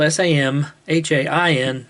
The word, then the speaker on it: Samhain: summer in summer's end i should say misawan is spelled s-a-m-h-a-i-n but it's pronounced samhain and the celtic people